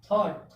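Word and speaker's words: thought: ठीक, उसके बाद क्या, थॉट, थॉट मीन्स क्या होता है, विचार या फिर कह सकते हैं मत, विचार या मत, थॉट, थॉट मीन्स विचार या मत।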